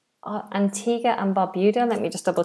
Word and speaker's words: Barbuda: Antigga and Barbuda. Antigga and Barbuda. Let me just double check the pronunciation of that second word. Barbuda. Barbuda. Antigga and Barbuda. It is right.